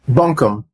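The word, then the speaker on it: Buncombe: Bunkham.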